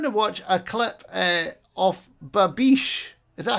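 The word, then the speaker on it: babiche: Well, we're going to watch a clip of Babish.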